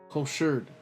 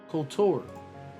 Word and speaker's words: couture: Cosured. Damn, bro. Why am I on my pronunciation now? Couture fashion term with French couture.